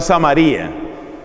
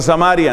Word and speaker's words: Samaría: su reinado esa ciudad fue samaría otros pronuncian samaria entiendo que ambas pronunciaciones tienen razón de ser vamos a decir aquí samaría hero one montó un